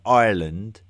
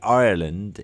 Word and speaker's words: Ireland: there's there's a sort of a lazy uh English pronunciation of the country of Ireland where we tend to call it island as to rhyme with the very generic term for a a land mass in the middle of the sea an island.